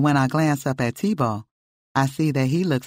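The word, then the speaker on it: Thibault: thought you were talking to the baby I'm TBO how do you spell that t h i b a UL good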